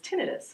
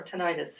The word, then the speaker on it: tinnitus: Sure, and either pronunciation is correct. So I just happen to say tinnitus.